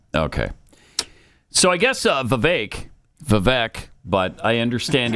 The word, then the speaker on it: Vivek: so I guess uh Vivek Vivek but I understand it's Vivek like cake that's what I'm continually